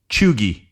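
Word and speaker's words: cheugy: how to pronounce this it's a EU is in the middle of the word EU uh and it's it's chugi I think is how you would say this c h EU u g y chugi uh it's someone who's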